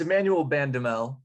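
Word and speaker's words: Emmanuel Bandoumel: Jimmy, you give me that pronunciation. It's Emmanuel Bandamel, and he is sort of a scoring transfer.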